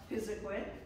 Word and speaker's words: Pisiquid: Pisiquid is spelled 60,000 different ways and pronounced just about as many times, but we're going to settle on Pisiquid.